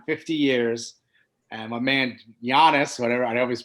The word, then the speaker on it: Giannis: And my man Giannis, whatever, I always pronounce it wrong. It's Giannis.